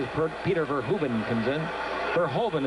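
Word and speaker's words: Verhoeven: Verhovven is the way they're pronouncing it now. We were always told that it was Verhuben, but they wanted Verhovven.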